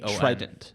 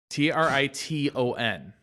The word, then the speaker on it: Triton: Okay, imagine the word try, T-R-Y. Try. And then ton. Triton.